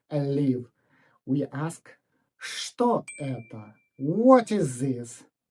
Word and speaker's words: что: Careful, look at this word. It is written with a ch later, but we pronounce it as sh. We say, что это? Repeat after me. Что это? But we write что это.